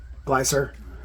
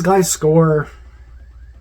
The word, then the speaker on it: Gliscor: Glycer. I know it's Gliscor. Glycer just flows better. I feel like it's too abrupt of a syllable change to say Gliscor.